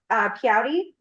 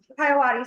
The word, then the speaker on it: Piawati: Next we have, Piauti. Piawati, sorry, people always say my name wrong.